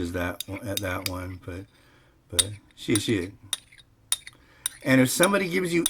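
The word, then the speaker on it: 谢谢: you in Chinese, it's xie xie. The transliteration is spelled Xie Xie. And it's not shu shu, it's xie. Xie. Xie xie.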